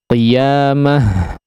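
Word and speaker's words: قيامة: marbutah ya, ta marbutah, maka ketika diwaqafkan sebuah kata yang diakhiri dengan ta marbutah ya, maka dia berubah menjadi huruf ha ya. Qiyamah, mah ini sudah pernah kita bahas. Lepaskan udaranya sesuai dengan pengucapan huruf ha seperti biasanya.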